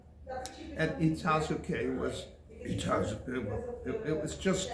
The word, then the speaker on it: Itazuke: My school was on the Air Force Base, on Itazuke Air Force Base. Most Americans called it Itazuke. But, K-E, Itazuke, right? Itazuke. Itazuke, K-E, yes. K-E, but people pronounce it as Itazuke. They were idiots.